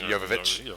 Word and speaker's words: Jovovich: He is married to Mila Jokovic. Jovovich. There you go. How the Maybe fuck do you he's pronounce just her name?